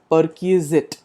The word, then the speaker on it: perquisite: s i t e it is pronounced as per key zit means some additional income